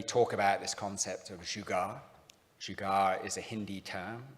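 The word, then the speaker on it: jugaad: Some of you have heard me talk about this concept of jugar. Jugar is a Hindi term. It's spelled J U G A A D and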